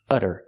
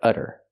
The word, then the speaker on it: udder: talk about this utter this one's spelled differently it has a double D and we do the same pronunciation the fast D sound utter utter this is a noun